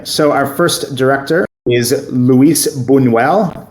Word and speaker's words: Luis Buñuel: Okay, so our first director is Luis Buñuel. Again, the Spanish pronunciation, please, can come to me for that.